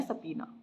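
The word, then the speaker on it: subpoena: इसकी प्रोनाउंसिएशन है सपीना।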